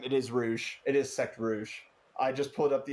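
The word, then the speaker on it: Secte Rouge: Twitch chat is telling me that it's Sect Rouge. It's not Sect Rogue. I've been saying it wrong, apparently. That's actually both of us, but it is Rouge.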